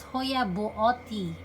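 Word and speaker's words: Hoya buotii: So you pronounce this as Hoya Buoti, because Buot is his last name.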